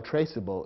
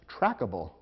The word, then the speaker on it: traceable: the resulting word and if you eliminate the silent E from traceable the word might look as though it should be pronounced trackable which would be incorrect